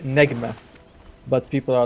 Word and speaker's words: Nigma: Yeah, because it's supposed to mean star in Arabic and it's pronounced as Nejma.